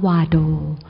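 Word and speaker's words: བར་དོ: ใน บท สวด คือ คำ ว่า บาโด นะ ฮะ หรือ ภาษา ทิเบศ ใน บท สวด ออก เสียง ว่า วาโด เอ่อ คำ ว่า บาโด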